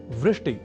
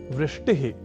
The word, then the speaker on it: वृष्टि: एक शब्द है वृष्टि या वृष्टिह।